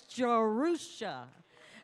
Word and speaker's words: Jerusha: got that name good and down today it's jerusha and i love this girl she's my uh